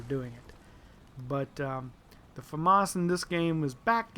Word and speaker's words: FAMAS: be the good old Famas or some people like to call it the famous it's you know you can pronounce it several different ways but uh this particular